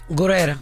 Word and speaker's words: Guerrera: Guerrera.